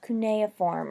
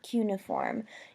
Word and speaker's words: cuneiform: create a writing system called cuneiform or cuneiform you may have heard it pronounced both ways this was a let